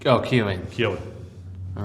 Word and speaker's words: Keohane: No, I'd say Keohane. Yeah. Yeah, wait, is that it? that's the Irish pronunciation. Oh, Keohane.